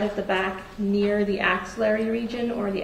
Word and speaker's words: axillary: axillary region or the axillary crease, where your axillary crease is basically your armpit and the crease is behind your arm. And you describe that as the ancillary region? Axillary. AX. Axillary.